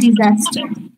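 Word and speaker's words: disaster: ডিজাস্টার হবে ডিজাস্টার বানান হচ্ছে ডি আই এস এ এস টি আর বাট উচ্চারণটা হচ্ছে ডিজাস্টার আচ্ছা ঠিক আছে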